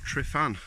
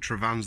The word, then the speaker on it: Tryfan: I decided to give Sri fan a go Shrove and whichever way you want to pronounce it I think trevin's the right way of pronouncing it but regardless I